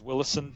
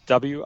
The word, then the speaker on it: Willison: Last name's Willison, Willison.